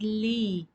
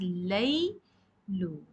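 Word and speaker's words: ليل: has a father here you cannot sound it as Lee because it's a fatha you will sound as you will pronounce as Lei Lu leilu means night your sound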